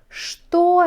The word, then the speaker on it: что: кто это это маша кто она она студентка что это это ноутбук что это что пишите что